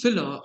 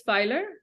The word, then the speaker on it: Philer: our first question so uh what exactly is filler and what sort of services does it provide